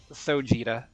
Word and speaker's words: Sojita: By the way, just to make sure I am pronouncing your name right, I was pronouncing it Sojita, like Gogeta, but I don't know if that's correct. Sojita.